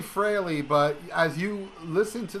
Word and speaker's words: Frehley: that uh we review freely frailey's comment i always say freely yeah what's wrong with you i don't know my favorite member and i can't pronounce his name correctly it's really frilly but as you listen